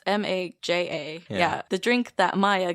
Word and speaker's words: Maja: They say it Maya, but it's Maja.